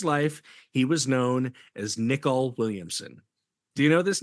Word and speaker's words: Nicol: ni i o l nickel and and it's like if you were to shave and you Nick all of your face that's how it's pronounced nickol so anyway nickel Williamson